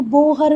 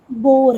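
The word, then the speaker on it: Bohr: अब जब इसका हिंदी एक्सप्लेनेशन वीडियो देखोगे यूट्यूब पे तो वहाँ पर आपको बोहर मॉडल या बोहर, नील्स बोहर मिलेगा, पर बेटा वो प्रोनाउंसिएशन करेक्ट नील्स बोर है ना।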